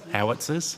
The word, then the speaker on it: howitzer: What impact did the 6, how do you pronounce that word? Is it hoisters? Housters? Sorry. That's right. What? Howitzers?